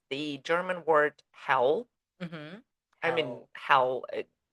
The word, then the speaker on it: hell: and be burned in hell forever. Where the devil lives. Yeah, Yeah. but in German, same spelling. It just pronounced a little bit different. It's pronounced as hell, Hell.